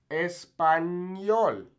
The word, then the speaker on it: español: Next, the ñ, okay, which makes this kind of NY sound, okay? Español. So it's kind of like ni.